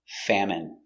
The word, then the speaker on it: famine: famine in their country pronunciation famine f a fa M fam it fam M famine famine stress on the first syllable famine it's countable a